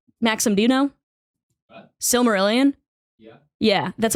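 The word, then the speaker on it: Silmarillion: is that what it's called Maxim Doo what silmer Ilan yeah yeah that's how it's pronounced yeah okay s marilan and it's like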